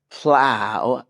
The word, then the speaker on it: plow: frustration professor and lastly plow rhymes with cow plow rhymes with cow